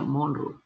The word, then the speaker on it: Monro: llama agujero de monroe se escribe monroy se pronuncia monroe que se llama agujero